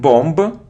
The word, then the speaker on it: bomb: a minute minute good it isn't bomba not bomba not bomba it's Bom Bom it's a sound or bomb so without it without it you don't pronounce B so next word it isn't